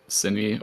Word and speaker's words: Synii: Is that pronounced right? That's a lot of hi for me. Yeah, he just goes by Synii, or rather, I've always called him Synii, and he's never corrected me.